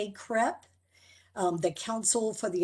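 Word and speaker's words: CACREP: we are accredited by the acronym is is pronounced crep um the council for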